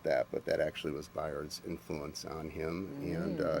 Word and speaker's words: Bayard: let's start with I I've heard his name pronounced a couple of ways Bayard and byard R I believe it's byard byed okay and his partner told